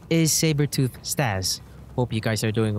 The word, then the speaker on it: Staz: right and yes steve call me stars not staz i mean it's easy to say my name staz s t a z you don't have to put an r on my name but enough of that